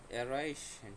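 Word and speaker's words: erreichen: এখানেও যে বললাম এ ই ইজ ইকুয়াল টু কি I. Okay, I, এ is equal to আই, তাহলে এখানে কি অ্যারাইশন, অ্যারাইশন অর্থাৎ টু পৌঁছানো বা টু অ্যারাইভ।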